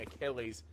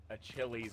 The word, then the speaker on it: Achilles: like Greek mythology he's instead of saying Achilles he said like a Chili's or something and we